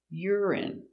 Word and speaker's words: urine: are the same pration urine y r i URI urine stress on the first syllable urine urine urine they test